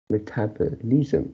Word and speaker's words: metabolism: on yeah yeah yeah he only starts on the second you metabolism yeah this is what you pronounce it so with metabolism metabolism it should be